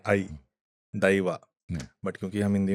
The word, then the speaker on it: दैवा: हमारे यहाँ दई बोलते हैं, आई, दैवा। बट क्योंकि हम हिंदी में बात कर रहे हैं तो समझ में आए सबको, इसलिए मैं देव देव बोलूंगा। ठीक है। बट एक्चुअल प्रोनाउंसिएशन इसकी दैवा है।